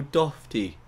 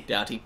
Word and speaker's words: Doughty: to say his name michael dofty how do you spell it d-o-u-g-h-t michael oh michael doughty doughty yes i want to